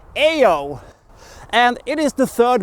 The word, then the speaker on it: Io: it is not pronounced I know it is pronounced ayo and it is the third moon of Jupiter